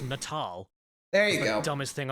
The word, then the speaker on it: Natal: your children in the head oh wait it's pronounced natal there you go dumbest thing I've ever heard